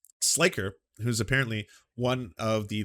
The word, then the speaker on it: Sliker: Sliker is how it's pronounced.